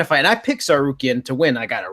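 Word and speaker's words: Tsarukyan: random teenager like Arman Sarkar, how do you pronounce this? Sarukian.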